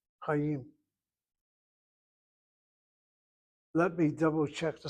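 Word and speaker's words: חיים: It's a monosyllabic word. Monosyllabic means one syllable, but it sounds like two syllables because the chet doesn't have a shana under it. It has a Chatah Patah. Chayim.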